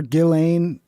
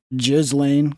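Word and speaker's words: Ghislaine: Um, the fact that Jeffrey Epstein was Can we stop calling her Gillain and get back to her proper pronunciation, which is which is Jizlane?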